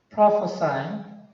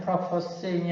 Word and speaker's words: prophesying: 자, 그러면 우리가 앞에서 배웠던 prophesying, 이게 동사일 때는 prophesying이 아니라 prophesying이 되겠죠. 그렇죠? 발음이.